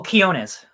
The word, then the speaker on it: Quinones: Ryan, I still can't pronounce his name. Joe Quinones? Oh, Quinones.